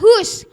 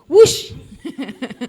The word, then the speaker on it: who: ya Hus jadinya Wu w h o bacanya hu bukan wu kalau kita kan Wu